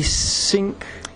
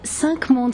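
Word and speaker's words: Cinq Mondes: can't pronounce the name it's the sink actually it's sankmon spa means five worlds and jean-luc the founder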